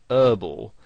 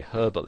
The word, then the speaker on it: herbal: would pronounce it whereas in british english you would pronounce the h and you would say herbal essences and you might